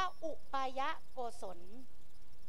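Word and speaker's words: อุปายโกศล: เลย ข้อ ที่ 3 อ่าน ว่า อุปายะโกศล อุปยะโกศล ก็ คือ ความ รอบ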